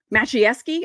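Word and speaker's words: Maciejewski: brings in Josh macheski macheski I think that's how you say it and he comes in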